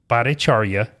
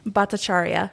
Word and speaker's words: Bhattacharyya: we're very excited today to meet with Jacqueline paracharya did I say it right almost no no